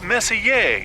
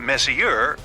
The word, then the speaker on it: Messier: Pronounced Messier, not Messier, as in is your room messier than mine?